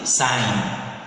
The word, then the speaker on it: sin: Instead of writing all these words sine, we abbreviate it as sin, but read as or pronounced as sine.